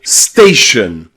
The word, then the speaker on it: station: You'll also hear the letter O pronounced with a schwa when it comes in words with T-I-O-N or S-I-O-N at the end, like information, information, or station, station, or relation, relation. Okay, that at the end is the O being pronounced as a schwa.